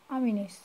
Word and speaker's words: Ameenees: উচ্চারণ এরকম হবে, AMEENEES, আমিনিস।